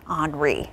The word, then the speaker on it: Henri: We're watching Hurricane Grace in the Caribbean and Henri, which is still a tropical storm, south of Bermuda. And yes, that is how you pronounce that, Henri, not Henry.